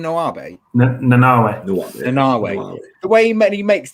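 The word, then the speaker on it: Nanaue: Nanawe.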